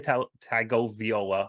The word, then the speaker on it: Tagovailoa: You're adding a couple extra syllables in there, I think, but that's okay.